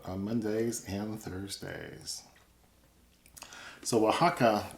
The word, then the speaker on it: Oaxaca: Mondays and Thursdays so Oaxaca doesn't look like you would pronounce it that way but that's the same